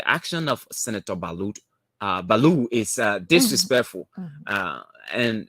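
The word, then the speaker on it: Ballout: that um for him he does not pronounce the last letter or so is Balu so don't say baluch I mean we see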